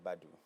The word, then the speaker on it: Badu: What's the pronunciation? So it's Badu. Badu. Yes. It sounds very properly. No, it's Badu. It's Badu.